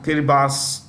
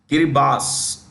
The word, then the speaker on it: Kiribati: Fiji countries like you know Marshall Islands yeah kiribas so kiribas is written Kiribati but pronounced okay so if you want to write